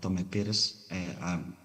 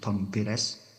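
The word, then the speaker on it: Tomé Pires: Uh interestingly uh the the uh Portuguese rider and explorer Tommy Pis I'm say it's correct pronouncing Tom Perez in Suma Oriental mentioned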